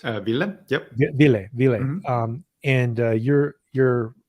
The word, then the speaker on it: Ville: Is it pronounced Ville? Is that correct? Ville, yep.